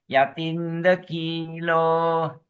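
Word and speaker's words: yathindakhīlo: Yatinda kilo. Oh yatind yat kilo short a. You go short a tinder.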